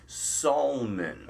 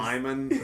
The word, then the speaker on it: Salmon: Salmon. Oh, he pronounces my name correct. Spelled like the fish salmon, but do not say that to him.